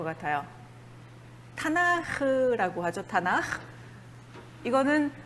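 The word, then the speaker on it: תנ״ך: 타나크도 사실은 타나흐, 이런 식으로 발음하시면 되겠습니다.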